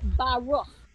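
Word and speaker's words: ברוך: So that is often at the end of a word to get you that ha sound at the end of a word, like in the word Baruch, the beginning of a blessing.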